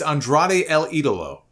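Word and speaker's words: Andrade El Idolo: the only thing is neither one of them can pronounce andrade's name correctly for some reason they both mispronounces it it's Andrade El Italo I don't know what is so hard about that but apparently apparently it's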